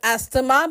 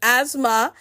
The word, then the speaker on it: asthma: Asthma is not pronounced as asthma but is pronounced as asthma, and T and H remain silent.